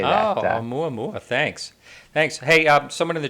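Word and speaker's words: ʻOumuamua: But it's Oumuamua is how you say that. Oh, Oumuamua.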